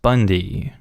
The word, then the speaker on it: Bund: It's not that I mind the name, the issue is that our last name is Bund, pronounced Bundy.